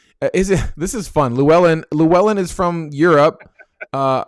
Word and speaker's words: Llewellyn: great um okay is it this is fun llewellyn llewellyn is from europe uh uh louis wait i'm saying it wrong how do you say that name paul you know how to say his name well yeah luellen yeah uh read this is he joking or